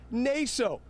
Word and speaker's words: Naso: 77-year-old Joseph Naso, he interrupted the judge on several occasions, actually, including to stress that his name is pronounced Naso.